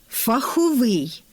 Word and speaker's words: фаховий: Фаховий. Цей прикметник варто в усіх формах наголошувати на закінченні, так само як лісовий, сніговий, що утворені від односкладних іменників фах, ліс, сніг.